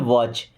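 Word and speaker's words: watch: यहां पे T silent है ना। क्या पढ़ते हैं? वॉच।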